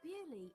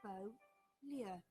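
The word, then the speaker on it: Beaulieu: It's in England, but Bewley is a French word. In English, we say Bewley, but in French, it's Beau-lieu, beautiful place.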